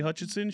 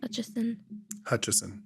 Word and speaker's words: Hutchison: edits back from Ashley Hutchinson. Shout out. So now I have to go. Yeah, that's what I said. Hutchison. No N.